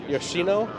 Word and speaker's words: Yoshino: Yes, Yoshino.